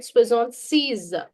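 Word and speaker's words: soixante-six: Swizzant says now remember here if you write swizzon sees pronunciation remember if you write swizzon sees it becomes 66 but if you write swizzon says it becomes 76.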